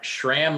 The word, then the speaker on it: Schramm: me it is shram like ham shram like ham i